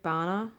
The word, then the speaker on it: Bana: I've seen that movie so many times Eric Bana as I say his name bana Eric Bana